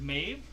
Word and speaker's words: Maeve: My name is Maeve. That's pronounced M-A-Y-V as in Victor.